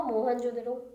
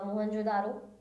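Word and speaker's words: Mohenjo-daro: म से हुआ मोहनजोदड़ो या मोहनजोदारो, यू can also pronounce.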